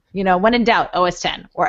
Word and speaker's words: OS X: OS 10 I'll captain I'm sorry for people who don't know how to say it but yeah you got it you got a couple months it's okay it'll it'll just it'll just flow its OS 10 you know when in